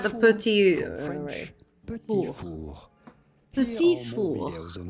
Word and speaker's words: petit four: In French, in France, we would call them petit four. The T at the end of petit is definitely silent, so do not say petit four, but rather petit four.